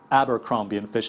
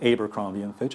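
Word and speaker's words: Abercrombie & Fitch: lot of retail companies, apparently it's pronounced Abercrombie and Fitch, not what I said, Abercrombie and Fitch. Apparently that's wrong.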